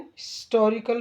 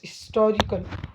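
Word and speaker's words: historical: eight Aurangabad is एंड हिस्टोरिकल place यहां पर H silent है एच अपनी ओरिजिनल आवाज नहीं दे रहा यह साइलेंट है आई अपनी आवाज दे रहा है हिस्टोरिकल या हिस्टोरिकल तो आई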